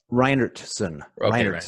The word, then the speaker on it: Reinhartsen: say your last name I don't want a butchered Reinertsen that's not too bad right great-great grandfather was